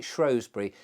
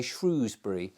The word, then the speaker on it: Shrewsbury: people it would seem say shrew as if it's named after a shrew, but it isn't.